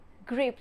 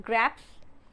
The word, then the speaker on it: grapes: what is that grapes grapes it's not grabs it's grapes so the